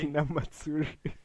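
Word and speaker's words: Hinamatsuri: And then Lego gave me, how do you pronounce it? Hina Matsuri? Hina Matsuri.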